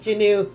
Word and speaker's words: Jinwoo: Ended up fast forwarding through 2 episodes to find someone pronouncing Jinwoo. Say it like Jinu.